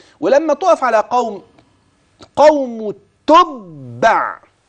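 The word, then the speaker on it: تُبَّع: تقف على قوم قوم تبع يبقى الباء عندي مشدده والتاء مضمومه والعين ساكنه اصل الكلمه ممكن تقراها شيء تاني لا اسمع النطق السليم تاني تبع كده ده لو وقفت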